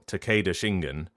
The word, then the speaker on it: Takeda Shingen: So whether you're pronouncing it Takeda or Takeda, Takeda Shingen or Takeda Shingen or Takeda Shingen, like, just make decisions.